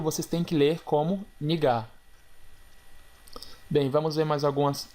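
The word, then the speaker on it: 네가: Bem, como vocês podem observar, se escreve nega com a letra e, porém se pronuncia nigar.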